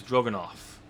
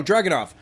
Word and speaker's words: Dragunov: Okay, so I'm not going to try to say his first name because I don't know how to pronounce it, but his last name is Drogonoff. Oh, Dragunov.